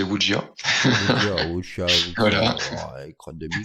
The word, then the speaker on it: wuxia: Alors dans le cri du mochi, j'ai appris que ça se prononçait Wujia.